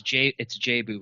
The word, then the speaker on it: Jabu: It's Jabu, by the way. Jabu? Okay, Jabu. Yeah. I've always said Jabu. Okay, Jabu. Jabu wins.